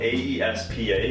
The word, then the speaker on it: aespa: It's actually what's spelled AESPA, but pronounced aespa.